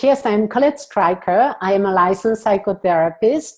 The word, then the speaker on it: Streicher: I pronounce it Colette Streicher. It's easier because in the US, not everyone can use the French way, which would have been Streicher.